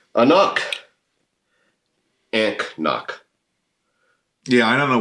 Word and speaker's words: anCnoc: A knock. A knock. anCnoc. Yeah, I don't know where you get that from. I've always wondered where they got that from. It does say right here, pronounced a knock.